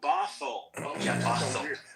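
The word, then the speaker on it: Bothell: Oh, Bathl. All right. Yeah, that's because of your pronunciation.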